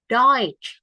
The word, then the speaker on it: Deutsch: TSCH ini bacanya kayak C. Kamu akan sering banget ketemu. Deutsch, gitu ya.